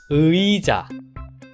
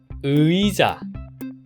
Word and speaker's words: 의자: 한다면 위자 위자 가 아니라 위자 의자 의자 입니다 반대로 위는 유와 이가